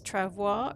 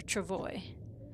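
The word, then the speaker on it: travois: So, I was asking today, how do you pronounce the name of that thing? This Travoir or Travoy? And the general consensus is Travoy cuz it's an English-speaking area.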